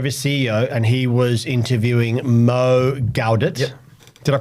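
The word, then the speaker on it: Mo Gawdat: Steven Bartlet D CEO and he was interviewing Mo galit did I pronounce that correctly you did smashed it g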